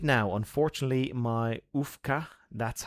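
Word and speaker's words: majówka: Okay, so the J is like... Oh, yes, the W is like a V.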